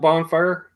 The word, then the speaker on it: bonfire: I prefer more of a handheld bonfire. No, not a bonfire. Oh, Not a bonfire, Ben. No G in that one. the G is silent.